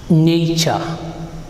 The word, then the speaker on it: nature: right okay let's see we say nature so this t sounds like nature right okay we say